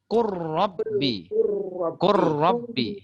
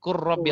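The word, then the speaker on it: قُلْ رَبِّ: Macam mana cara baca? Qurrabbi. Ini lam langsung masuk ke ro. Ini kalau dalam kalau idgham bila guna tak ada dengung ya. Qurrabbi langsung masuk ya.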